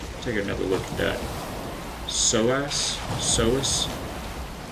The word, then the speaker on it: psoas: Psoas? Psoas? I'm guessing the P is silent.